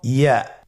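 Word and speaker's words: ي: ইয়ার মাখরাজ কোন জায়গা থেকে উচ্চারিত হয়? ইয়া উচ্চারিত হয় জিহ্বার মধ্যখান তার বরাবর উপরে তালুর সঙ্গে লাগিয়ে উচ্চারিত হয়।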